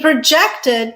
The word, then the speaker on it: project: He projected that the product would become a bestseller. Projected, verb. Or this can be produced with a stress on the first syllable, project.